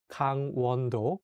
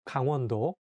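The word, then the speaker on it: 강원도: say g-a-n-g as gang but in korean you have to say kang with the strong a sound so make sure to say kang wando kanwando when you look at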